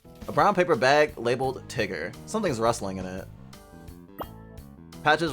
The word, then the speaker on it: Tigger: Are you a tiger? Actually, it's pronounced Tigger.